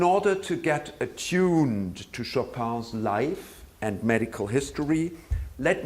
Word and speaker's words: Chopin: as you just heard of Frederick Chopin or as his polish compatriots pronounce his name Frederick Chopin one consider Chopin from